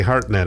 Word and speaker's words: Hartnett: Hartnett, yes. Okay, well, it's spelled absolutely wrong.